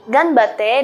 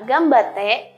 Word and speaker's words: ganbatte: ada contoh lain seperti ganbatte dibaca gambate dan tempura dibaca tempura